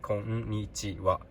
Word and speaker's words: konnichiwa: This is pronounced ha or wa. When you write hello in Japanese, this one is called wa. So this word would be konnichiwa.